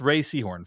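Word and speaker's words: Rhea Seehorn: is it is pronounced Ray Seahhorn for those who are curious. Uh it just it's not pronounced like how it's read.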